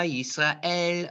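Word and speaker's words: ישראל: Shema, Yisrael, Adonai.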